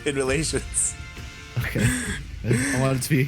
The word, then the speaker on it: InMoLaTioNs: That's how you say it, right? InMoLaTioNs? Yeah, in relations.